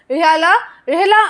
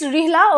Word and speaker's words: Rihla: Rihala, or you can say it's Rihla, okay, whatever you pronounce. Rihla, this is the book